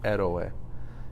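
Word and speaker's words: héroe: You pronounce that, remember H's are silent. Eroe.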